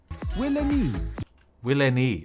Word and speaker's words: Will NYE: Will NYE. Ah, that's how it's pronounced. It's not Wilney.